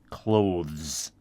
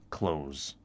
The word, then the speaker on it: clothes: that word c t h e is technically pronounced clothes but most people just pronounce it clothes okay she puts on her makeup and brushes